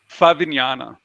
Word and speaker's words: Favignana: Favignana, Fabiana. Favag. So the Italians have, uh, yeah, with I believe it's a GN, and that therefore it's pronounced a little differently.